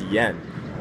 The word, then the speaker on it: yen: trying to correct me it's Yen ye n Yen uh and he